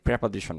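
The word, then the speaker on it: preposition: আমরা যারা যারা নেট স্পিকার যারা তারা কিন্তু বেশিরভাগ প্রেপজিশন বলে প্রেপজিশন আর আপনি প্রিপজিশনে বলতে পারবেন এটাও কিন্তু শুদ্ধ উচ্চারণের মধ্যে পড়ে তবে প্রেপজিশন এটাই বেশি যারা যারা নির্বিকে তারা বলে থাকে এই উচ্চারণটা তাহলে আমরা এটাই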